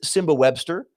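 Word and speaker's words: Nsimba Webster: Start with Simba Webster. I had to make sure to look up how to pronounce his name because it's spelled Nsimba, but the internet tells me the N is silent and I'm going for it.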